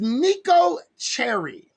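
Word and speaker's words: Neko Cheri: and she's really turn okay her name is nico cherry n-e-k-o cherry is spelled c-h-e-r-i nico cherry and this was her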